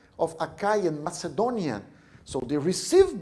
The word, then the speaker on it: Achaia: That's the way we pronounce it, of Achaia and Macedonia.